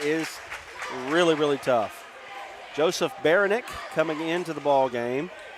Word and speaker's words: Baranek: Joseph Baranek coming into the ball game. I got a pronunciation correction on that. Yeah. What is it? I still don't remember. It's more like Baronic.